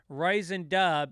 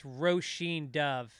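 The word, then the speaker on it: Róisín Dubh: pronunciation have you played ryzen dub is pronounced roshin as in rowboat and Martin Sheen and apparently dub is dove so it's rosheen Dove um anyway forgive myself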